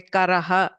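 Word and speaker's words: कर: Say Karaha. If I have K, it means a hand. Whereas Kharaha, the same place, if I use a Mahaprana Kha, it means a donkey.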